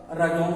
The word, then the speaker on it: रजौन: राजवन जो अंग्रेजी में लिखता था तो वह रजौन बोलता था। रजौन धीरे धीरे वो बोलते बोलते वह रजौन उसका उच्चारण करने लगा और यह राजवन रजौन में परिणत हो गया।